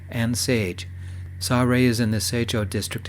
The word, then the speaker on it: Seorae: It's pronounced Sa-Re and Sage. Sa-Re is in the Seicho district in Seoul.